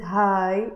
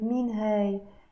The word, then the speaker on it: هاي: don't really pronounce it hi. No, I'm kind of pronouncing it min hey. If you speak French, you would know that it kind of sounds like this accent grave, hey, rather than hi, okay?